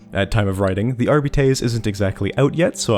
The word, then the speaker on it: Arbites: First things first, and this is very important, it is not Arbites. It's pronounced Arbites. I know Games Workshop says it's Arbites, but they're British, and just wrong. That's not how Latin pronunciation works.